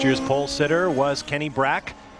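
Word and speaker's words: Bräck: pole sitter was kenny brack who has let it be known he'd like to americanize his last name pronounce the short a this year cristiano damato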